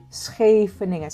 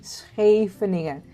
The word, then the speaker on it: Scheveningen: Can you pronounce Scheveningen? Scheveningen. Say it with me. Scheveningen.